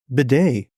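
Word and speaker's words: Tyler Badie: And dude, I don't know if you know that the third stringer, Tyler, his name is spelled Badie, Badie. It's pronounced Bidet, apparently.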